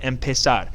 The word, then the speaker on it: empezar: The infinitive is pronounced empezar.